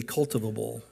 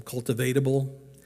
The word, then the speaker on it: cultivable: Jesus wants us to be curious, but he also wants us to be cultivable. Now, I tried to put an extra syllable in there the first time, cultivatable.